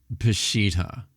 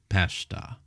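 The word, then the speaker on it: Peshitta: Faulk has to say next when you look at say the Syriak pesha uh it's Pashittita is the name of the Syriak translation of the Old Testament not Pashta the Septuagent say the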